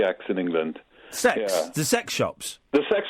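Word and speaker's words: CeX: C you do have C EX in England sex the sex shops the sex hops yeah that's how it's pronounced guys that's how it's pronounced Computer Exchange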